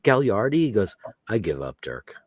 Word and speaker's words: Gagliardi: named Randy gardi and his name is g a g l a i r d i people used to call him Gagliardi and he used to just I said isn't it gardi goes I give up